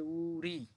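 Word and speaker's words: 우리: তারপর দেখেন এটার উচ্চারণ হবে উরি। উরি কিভাবে হলো? ইউং উপরে বসছে, তার মানে এটা উচ্চারণ হবে না, শুধু উ। এরপর রিউল। রিউল উপরে আছে, তার মানে র এর সাথে ই, রি।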